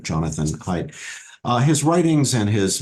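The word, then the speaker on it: Haidt: DT h a DT it's pronounced height Jonathan height uh his writings and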